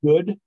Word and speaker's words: Jude: it um it's called Jude or it's actually pronounced good but spelled like Jew j-u-d-e and it's really it's